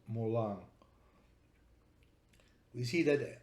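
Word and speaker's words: moulin: Mula comes from Latin molinum and it's written m-o-u-l-i-n now if we follow the Latin rules we would read Molin but in French this is pronounced Mulan we see that o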